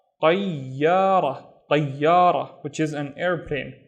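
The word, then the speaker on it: طيارة: The first syllable is tayi. So, ta, the heavier version of ta. Tayi, don't forget to pronounce the ya. And then ya, ra. Tayyara, tayyara, which is an airplane.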